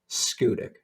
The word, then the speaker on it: Schoodic: And don't worry about the name. Nobody outside of Maine pronounces it correctly. Schoodic.